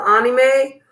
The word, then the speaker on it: anime: to let y'all know anime is how you say it with a Japanese accent that's how the Japanese say it they say anime Americans say anime okay so if somebody says well sh you're saying it wrong no actually I'm saying it like a Japanese person and you're not saying it wrong either you're saying it like an American okay go ahead yeah